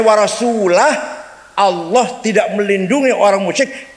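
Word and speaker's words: وَرَسُولُهُ: Ada orang baca Quran salah. Innallaha bari'um minal musyrikin wa rasulih. Allah tidak melindungi orang musyrik dan tidak melindungi rasulnya. Salah. Yang benar bacanya innallaha bari'um minal musyrikin wa rasulah. Allah tidak melindungi orang musyrik dan Rasulullah pun tidak melindungi orang musyrik. Warasulah bacanya, jangan warasulih.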